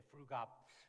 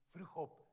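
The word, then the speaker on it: Vroegop: I don't know how they say it there, Frugap. But actually, it's Dutch, and it means Fruchop, means waking up early.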